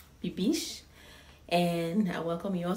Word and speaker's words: Bibiche: bibish everybody has been asking me how to pronounce my name my name is bibish bibish and i welcome you all to my channel